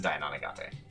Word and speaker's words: Dainonagate: Well, Dainonagate told us his name, and he pronounced it Dainonagate.